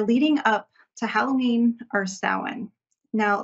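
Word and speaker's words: Samhain: few weeks we're leading up to Halloween or sa now sa is looks like it would be is spelled Sam hanne like s m h a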